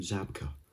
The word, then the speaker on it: Zabka: time on this one pretty much you just say how you see and that is william zabka for johnny johnny's actor